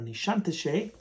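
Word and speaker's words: Nişantaşı: one in baghdad kadeshi another one in nishantashe or nishanti that's how you say it and then this one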